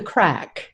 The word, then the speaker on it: craic: to say it correctly i think called the craig something the craic it's actually called the crack the crack oh yes